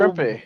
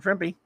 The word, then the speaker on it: Trimpe: Trimpe. Herb Trimpe. Rhymes with So Trimpe.